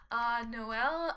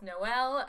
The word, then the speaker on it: Noelle: We're gonna take Hazel and we're gonna take Noelle and Lucky.